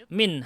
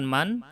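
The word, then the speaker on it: من: Mahbit min habata yahbitu, itu bacanya min bukan man.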